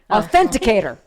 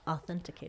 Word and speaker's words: authenticator: again olivia autisticity authenticator authenticator i thought authentication i want to say authenticator ridiculous authenticator yeah and